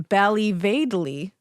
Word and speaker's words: Ballyvadlea: up these pronunciations because Irish towns are who boy beautiful beautiful sounding but they don't sound the way they look yeah uh so she was born in Bali vadley okay County Tipperary okay